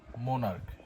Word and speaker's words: monarch: Plural করতে হয়, যেমন মোনার্ক, MONARCH, মোনার্ক। এই জায়গায় মোনার্ক সিএইচ এর উচ্চারণ, মোনার্কের শেষের অক্ষর হচ্ছে সিএইচ এবং এখানে সিএইচ এর উচ্চারণ কয়ের মতো হচ্ছে।